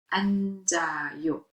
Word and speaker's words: 앉아요: 지읒. The 지읒 sound is carried over. It's pronounced 앉아요.